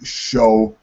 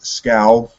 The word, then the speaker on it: Scow: I've always said Ash Show. I think the correct pronunciation is Scow, Ash Scow.